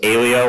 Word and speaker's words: Aleo: this always comes up so it's Alo like rhymes with paleo there are many pronunciations out there even our own advisers don't get this right so don't feel bad if you don't remember but if you need to remember paleo Alo that's how you think about it but